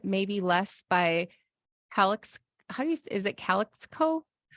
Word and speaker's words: Calexico: Less by is it Calexico? Calexico. Oh, like Mexico, but Calexico.